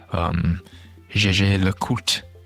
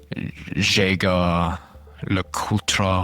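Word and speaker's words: Jaeger-LeCoultre: Gégé Lecoultre. I did not get that completely right, but just as long as you don't say Jaeger Lecoultre or something like that, you should be fine.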